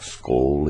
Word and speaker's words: skål: The A with a little circle is kind of an O sound, like skål in Swedish.